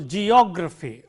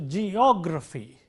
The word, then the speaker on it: geography: Let's take, for example, geography or biography, lexicography, and so on. the syllable immediately preceding gr is o. So, geography, biography, lexicography, calligraphy, and so on.